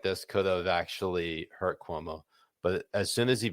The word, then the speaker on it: Cuomo: Sorry, I say Cuomo when I know it's correctly pronounced Cuomo.